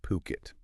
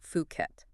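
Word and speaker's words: Phuket: Now, these guys are a luxury real estate agency and they're based right in Puket. And just to be clear on pronunciation, that's P O Kit. Yeah. Not Fuket.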